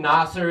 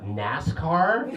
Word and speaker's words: Nasser: cousin simulations man I I love my name Nasir it's pretty cool it's a mispronounced a lot by racists the weirdest burn a mispronunciation ever got was a NASCAR which is a pretty